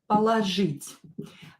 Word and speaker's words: положить: Положить. Thank you for your question, Yolanda, because sometimes I don't see these things. Again, ложь is a root, положить, and I pronounce it as A.